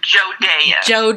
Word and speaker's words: Jodea: It is pronounced Jodea.